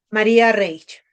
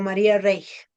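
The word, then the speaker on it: María Reiche: Para mí eh la segunda sería María Reage o María Reich, no sé. Se pronuncia en alemán. R. Toda la vida crecimos llamándola María Reich, porque yo soy del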